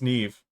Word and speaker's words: Neve: If it rhymes with Steve, then it's just Neve.